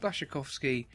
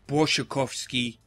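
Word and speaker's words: Błaszczykowski: few of them so is that blasik kovski is it I thought had spiky is actually I think my girlfriend said it's brovsky cuz she's polish she is Polish shees pronouncing she telling us how wrong English people are doing everything B shikovski let's open this pack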